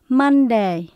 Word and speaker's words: Monday: Sunday, Monday, Tuesday, Wednesday, Thursday, Friday, Saturday.